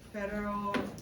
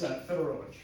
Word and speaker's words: Fedorovich: Vince, I don't know if I pronounced your last name correctly, Fedorovic? It's Fedorovich.